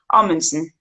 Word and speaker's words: Amundsen: And Amundsen would be Amundsen. Amundsen. Amundsen. I Yeah, like that.